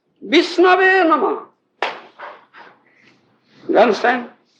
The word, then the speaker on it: विष्णवे: The Pandit says Vishnave Namah. You understand? Murkha says Vishnaya, Pandit says Vishnave. You understand? Who was? Vishnaya, Vishnave. The correct word is Vishnave.